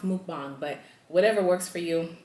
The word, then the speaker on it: mukbang: said it's mukbang that's how it's pronounced it's pronounced mukbang but whatever works for you it is what